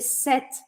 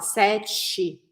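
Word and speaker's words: cet: repetir a pronúncia de set tanto no masculino quanto no feminino que é exatamente a mesma eu vou falar set set set o que eu não posso fazer é falar sete não é set tá não é sete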